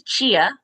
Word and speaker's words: Ch-a: So, my name is Chia. That's the first thing is it's spelled ch- a.